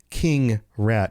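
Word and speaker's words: Keeng Ra'at: King Rat is what that's supposed to sound like, right?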